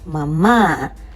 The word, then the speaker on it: mamá: Buenos días, mamá. An accent on the last A.